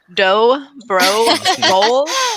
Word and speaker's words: Dobrevolsky: but i am now so this is how you say my name uh it is doe bro bowl all those stock images